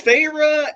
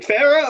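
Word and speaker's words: Feyre: I was like okay so I knew it was farra but I was like is it Farah or is it farra I was saying far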